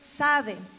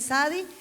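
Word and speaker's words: צדי: No se pronuncia la T, solo es sade, algunos dicen sadi.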